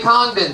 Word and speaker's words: Congdon: Congdon, spelled like it sounds.